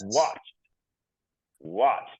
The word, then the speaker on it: watched: watch it doesn't exist we pronounce it with a T at the end right we say what